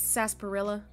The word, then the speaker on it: sarsaparilla: I said it right the first time it's sasparilla oh it's another type of root beer got